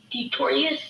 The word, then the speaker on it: Detorius: Is Detorius is that how, am I saying it right? Detorius? Yeah.